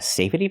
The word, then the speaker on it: safety: fence a safety fence the word is pronounced safety it comes from the word safe and in the word safe the E is silent so when I change it to the word safety the E stays silent and we use a